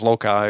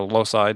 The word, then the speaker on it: loci: this concept of the method of loci or low-side depending how you pronounce it right the space